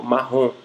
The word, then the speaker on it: marrom: por exemplo no português a palavra marrom termina em M mas nós não pronunciamos esse e me deixando os lábios apenas uma nasalização do o marrom uma casa marrom E no caso Tupi